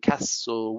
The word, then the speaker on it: castle: so the silent s the silent t lists and castle whistle close we don't pronounce